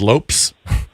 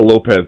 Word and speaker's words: Lopes: I assume it's Lopez, or maybe it's Lopes. I don't know. It's Lopez.